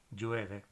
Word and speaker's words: llueve: So in Argentina, they pronounce that sound like a j, calle, llueve. You would probably be best off keeping it simple. So do it like a Y or an ly sound, calle, llueve.